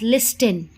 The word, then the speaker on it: listen: Okay, but make sure that you will not pronounce this word as listen. The letter T is silent in this word, so your correct pronunciation is listen.